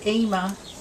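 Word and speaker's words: Yma: And she called her Ema, which is spelt Y-M-A, and it's named after a particular actress from a long time ago.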